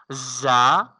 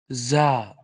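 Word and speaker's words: زاي: Say it Z, like buzzer sound. Za. Za. Yes. Za will be pronounced with buzzer sound, and when tip of the tip of the tongue touching to the lightly lower two front teeth, lightly upper two front teeth, then we can pronounce this sound.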